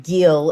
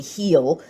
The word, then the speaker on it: Gil: And then you turn over to the pitching side of things, and I've been getting this guy's name wrong. I've been calling him Gil. It's actually Heel.